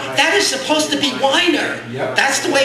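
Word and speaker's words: Weiner: r and that's that is supposed to be Wier that's the way it's supposed to be pronounced and I convinced that 46 years of pronouncing his name mispronouncing it weener has affected his mind that first poem was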